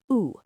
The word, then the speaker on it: où: Right, it's pronounced like the letter O, où.